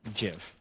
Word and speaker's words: GIF: but uh the i i pronounce it as jif because that's how the original creator wanted it and tried to make